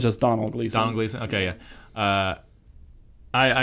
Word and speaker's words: Domhnall Gleeson: Yeah, it's just Donald, even though there's an M. Okay, it's not Domhnall Gleeson, it's just Donald Gleeson.